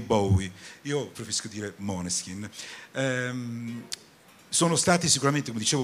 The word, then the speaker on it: Moleskine: questione sicuramente sono stati Moleskine e io lo pronuncio quella dizione Danese o la compagna Danese quindi mi piace dirlo proprio così è un po' Come